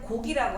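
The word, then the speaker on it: 告: 그래서 이렇게 알릴 고자라고 우리가 발음하지 않고 이럴 때는 곡이라고 한 거예요. 초서곡, 정곡. 그래서 핵심을 알려준다, 여러분. 핵심을 알려준다. 그래서 요 곡자하고 같이 써서 이 고자를 곡이라고 우리가 그 발음하는 거예요. 곡입니다.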